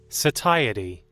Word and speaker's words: satiety: I don't know how to pronounce this word. Satiety.